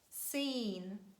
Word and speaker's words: scene: of words is impossible that's why we just omit letter c and we pronounce only letter s as the sound si and we say scissors science scene scenario descent fascinate fascinate it means to